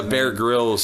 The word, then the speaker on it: Bear Grylls: Yeah, Bear Grylls.